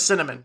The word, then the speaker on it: Synnamin: Now, by the way, her name is Cinnamon, spelled SYNNAMIN. My people need to Pronounced free themselves cinnamon.